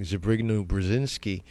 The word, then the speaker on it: Zbigniew Brzezinski: Ones like Zbigniew Brzezinski, that's how you say his name.